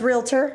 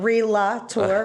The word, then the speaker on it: Realtor: Let's just end the debate So here. it's Realtor. Okay. It's not Relator, right? And it's Realtor.